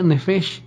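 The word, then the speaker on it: נפש: y versículo 7 en el hebreo, y se pronuncia nefesh, y significa o designa al hombre quien llegó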